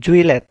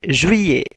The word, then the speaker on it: juillet: doang Jun Pyo piye Awas ketika ada satu kata berunsur huruf double l maka dibacanya itu iye jadi bukan juillet tapi zhuye tanya tidak lagi baca